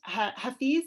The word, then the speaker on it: Hafiz: And it is about a young man named Hafiz. Am I pronouncing?